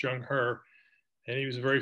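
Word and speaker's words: Zheng He: and coast in 1413 his name was jung herbs pronounced jung hur and he was a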